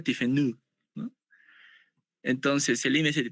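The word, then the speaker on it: Tiffeneau: Se escribe tifenado, pero se pronuncia tifenú, ¿no?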